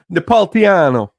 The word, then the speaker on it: Napolitano: Napolitano.